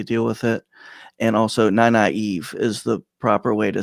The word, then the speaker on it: Nynaeve: And also Nynaeve is the proper way to say that name.